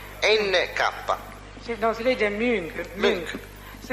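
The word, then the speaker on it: Münch: Sì, no, si legge Munch.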